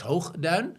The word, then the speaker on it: Hoogduin: it is, there's actually I don't know how to pronounce his name in English. It would probably be Lex Hoogduin. Let's not go there. In Dutch, we would say Lex Hoogduin.